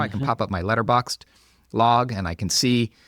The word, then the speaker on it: Letterboxd: You spell it the way it sounds, except there's no E at the end. So letter BOXD if you're looking for it on the web.